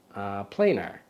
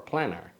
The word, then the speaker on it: Planar: But since there's only one N, I'll say planar. You know, as a former English teacher, the double consonant would make it planar, but planar, I'll call it that.